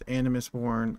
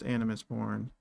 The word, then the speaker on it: Animus Born: It's Animus Born. I know some of you guys can't pronounce it. That's fine. I'm gonna start saying it in my videos. It's Animus Born.